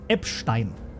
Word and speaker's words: Epstein: Um, in German, Epstein, you know how that would be pronounced? Epstein, cuz like Einstein or Weinstein, right? So, Weinstein would be Weinstein.